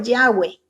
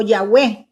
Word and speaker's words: Yahweh: Vimos el nombre propio de Dios, que es Jehová, como lo pronunciamos nosotros en el idioma español. En el idioma hebreo es Yahweh o Yahweh, como dicen algunos.